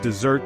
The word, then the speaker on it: dessert: first syllable desert but dessert that delicious treat we all crave that one gets the stress on the second syllable desert it's all about